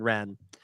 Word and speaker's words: Wren: Wars Rebels with Sabine Wren. And then in 2015 we got The Force Awakens with Kylo Ren, spelled differently but pronounced the same.